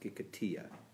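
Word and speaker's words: Gikatilla: It's written out Gikatila, Gikatila. Okay. But it's pronounced Gikatia. Yeah, it's a Spanish sounding.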